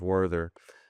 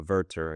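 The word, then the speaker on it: Werther: I mean that it has an intensely emotional uh young protagonist by the name of Worther. Uh Verter I guess is the proper German pronunciation.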